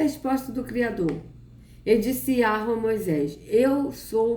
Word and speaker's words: Yahweh: ao certo como pronunciar este nome, mas a pronúncia mais aceita hoje é Yahvé, não, é Yahweh. Não é Yahvé ou nem Javé, é Yahweh. Antigamente, uma maneira comum de pronunciar este nome, embora errônea, era Jeová.